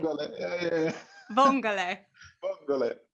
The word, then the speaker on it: vongole: Vongole. Vongole. Am I right? Did I say it right? Vongole. Yeah. Vongole.